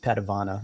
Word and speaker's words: Padavona: i was very young it's spelled patavona it's pronounced patavana it's just a family thing all right all